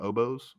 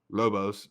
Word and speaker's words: Lobos: Go New Mexico Obos. Is that how you say it? The Lobos, correct.